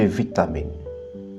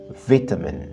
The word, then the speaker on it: vitamin: En anglais britannique, on dit vitamin. Tandis qu'en anglais américain, on dit vitamin. La différence réside dans la première syllabe, vit pour les Britanniques et vite pour les Américains, vitamin.